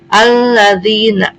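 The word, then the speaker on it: الذين: Kalimatnya alladzina. Kenapa disebut alif lam syamsiyah? Karena alif lam menghadapi huruf lam. Lam itu termasuk salah satu syamsiyah. Jadi alladzina.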